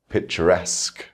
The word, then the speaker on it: picturesque: Rule number 7 shows us words where we stress the suffix itself.